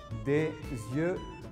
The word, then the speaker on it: des yeux: Des yeux marrons. Aquí tengan cuidado con la pronunciación que se dice des yeux.